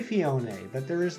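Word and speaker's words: Phione: understand that it's pronounced fionae I always said fione I just left the E alone just let it be like you know a regular e at the end of a word this field um but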